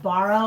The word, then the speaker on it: Bouroux: It's called Borrow, like borrow. I'm going to borrow something, but it's spelled BOUROUX, something like that.